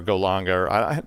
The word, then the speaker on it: Golang: Now, I saw that you built this in Python and Go, which are Golanga. How do you say that? Is it Golanga, like German? Yeah, Golang. Golang, like Dulang.